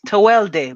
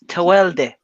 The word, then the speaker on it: Tawelde: your name right yeah it's toel day but it's whatever man it's an entry name so it's kind of difficult to pronounce say it say say your name man say say how you say it okay it's tawelde it's a wild day i'm gonna say your